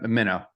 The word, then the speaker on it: Minno: and just to make sure it's pronounced minow or yeah okay minow okay yeah minnow minnow awesome I'm going to do the intro